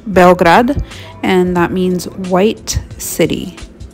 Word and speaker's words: Beograd: Belgrade is how we pronounce it in English, but it's actually pronounced Beograd, and that means white city.